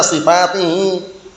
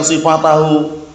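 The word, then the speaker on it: صفاته: Bacanya li anna sifatihi. Jamak muannas salim kalau mansub dengan apa tandanya? Kasrah. Bacanya li anna sifatihi, bukan sifatahu.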